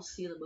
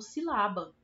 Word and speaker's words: sílaba: Mas se a sílaba tônica dessa palavra é o lá, então eu não falo sílaba, eu falo silaba, né?